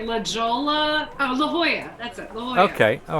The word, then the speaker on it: La Jolla: i can never pronounce this i can't ever pronounce the name of this this town it looks like la jolla oh la jolla that's it okay all right oh yeah that's